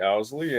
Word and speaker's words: Owsley: And I apologize for the mispronunciation. I know it happens daily. My name's Owsley.